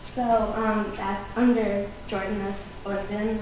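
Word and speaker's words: الأردن: So that under Jordan, that's Orden, which is how you pronounce it in Arabic.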